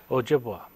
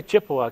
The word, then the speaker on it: Ojibwa: Ojibwa. I'm sorry? Ojibwa. The Ojibwa? Ojibwa. Ojibwa. Yeah, you can say Chippewa because that's American. That's the American pronunciation.